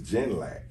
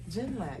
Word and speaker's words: Ginlack: My last name, right, you've been pronouncing it wrong. My last name is Ginlack. Ginlack.